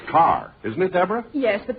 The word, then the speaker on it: Kerr: if it isn't Deborah Kerr hello Deborah hello Jack Jack her name is pronounced car isn't it Deborah yes